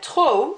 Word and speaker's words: trop: You don't pronounce that P at the end. It's not trop, it's trop. It's like that P isn't there, but it needs to be spelt with a P.